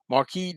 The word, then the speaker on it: Marquis: Marquee, spelled like that, Quee. Marquis de Sade.